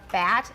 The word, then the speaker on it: bat: Everybody, bat. All you have to do is open your mouth really wide.